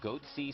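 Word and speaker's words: Goatse: getting the goatsy picture they're called goatsy security is that my pronouncing that correctly yeah that's right we're analyzing coverage from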